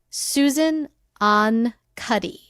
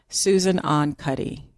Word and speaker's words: Susan Ahn Cuddy: Susan Ahn Cuddy. Susan Ahn Cuddy.